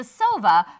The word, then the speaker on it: Sova: That's the Sova, pronounced almost like sofa. But with a V.